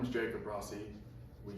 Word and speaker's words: Rossi: My name is Jacob Rossi. We say Rossi because that's how it's pronounced.